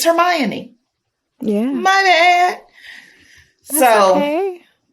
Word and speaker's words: Hermione: Harry Potter series thinking that girl's name was Hermione. Until you saw a movie? Yeah, I was like, oh shit. Or maybe I was talking to somebody, but I was like, oh shit. It's Hermione.